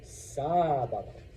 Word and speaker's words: sábado: But the word sábado breaks the rule, so we put an accent mark on the A, so now you know to say sábado, sábado, okay? So when you see an accent mark, put stress on that vowel.